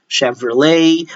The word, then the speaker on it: Chevrolet: Let me add for SH, you have the SH sound, even though they are CH in spelling, you have the champagne, chandelier, Chevrolet, but this one, they are